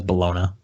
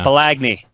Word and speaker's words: bologna: Well, I mean, it's spelled bologona, but no one says bologona. Bologna. Bologna. Balagney.